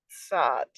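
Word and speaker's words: צ: indicated in lesson one think of words that end with T and S for example bats if you remove the B and the a what is left is the pronunciation of the first part of this letter sad poof rash Shan and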